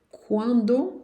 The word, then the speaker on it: quand: O D não se pronuncia também, não. Um grande barco quando vocês quiserem. Beleza. Na frente de uma vogal, vou ter que fazer a liaison. E esse D vai ter um som de T de tatu.